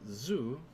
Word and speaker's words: ず: ず Zu, I pronounce Zu, or write Su as normal, And then add dakuten to change it to zu.